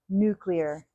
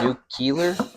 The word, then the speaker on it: nuclear: And the way you're supposed to say it is nuclear. So we're saying that one correctly. So, some people say that new Keeler just put it up here.